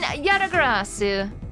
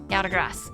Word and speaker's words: Yatagarasu: Okay, it's actually pronounced with a su at the end?